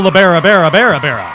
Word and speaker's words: LaBarbera: It's just so it's Joe Labarbera. Did I say it wrong now? Hanna-Barbera. I love Hanna-Barbera. I'm a banana split, you know. Joe Barbera. La Barbera. There you go.